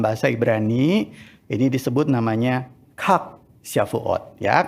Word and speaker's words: Chag: Atau di dalam bahasa Ibrani, ini disebut namanya Chag Shavuot. Ya, kalau CH-nya itu dibacanya KH, begitu ya. Jadi Chag.